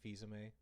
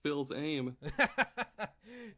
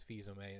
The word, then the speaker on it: Fils-Aimé: That's There how you was pronounce his last name? Yeah, Reggie Fils-Aimé. Oh my god, this whole time I've been thinking it was Phil's aim.